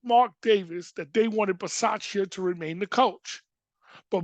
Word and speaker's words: Bisaccia: Gruden, a guy by the name of Rich Bisaccia, that's how you pronounce his name, but Bisaccia, who was the